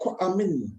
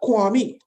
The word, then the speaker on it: Kwame: So if you're born on Saturday, it's really Kwame, not Kwame.